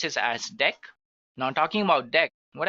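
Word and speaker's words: deque: So let's take a look at the next one that we have which is actually deck guys. It is written as dq but we can pronounce this as deck.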